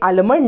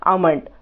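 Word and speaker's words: almond: खायला मिटते आणि म्हणते आलमंड ना आलमंड ना या वती इकड़ अभिजीत मतो कैलिफोर्निया आमंड म्हणजे ना तला एल साइलेंट असतो लबरी म्हणते मला कधी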